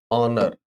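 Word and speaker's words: honour: एन लगाते, जैसे हमने कहा honest, आवर, ऑनर, ऑनरेबल, ऑनरेरी, एयर। यस, पढ़िए बच्चों फटाफट। ऑनेस्ट, हाँ इनमें सब में एच साइलेंट होता है बच्चों।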